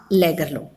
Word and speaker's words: Lagerlöf: Trap, written by Selma Lagerlöf. Sweden में इसको लैगरलोफ बोलते हैं, बट हम इसको लैगरलोफ बोलेंगे ताकि हमें इसकी स्पेलिंग याद रहे और हम राइट करने में गलती ना करें.